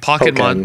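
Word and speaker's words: Pokkén: No, it's Pokken. It's actually Pokemon, but Pokken Fighters. Pokken. Pokken. Leave us a comment. How do you pronounce it? Yeah, I say Pokken.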